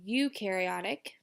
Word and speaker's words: eukaryotic: The second one is eukaryotic. So you pronounce it you, okay?